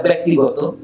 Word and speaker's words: ব্যক্তি: করতে দেখি ব্যতীত কিংবা ব্যক্তিগত, না ব্যক্তিগত। ব্যক্তি খুব ভালোভাবে খেয়াল করলে এটি বোঝা যাবে যে বয় জফলা কয় তয় রস্বইকার উচ্চারণ বয় একার কয় হসন্ত তয় রস্বইকার।